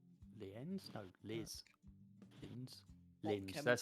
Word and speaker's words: Linz: Lienz. Lienz? No, Liz. Linz. Hot Linz. That's how you chemicals.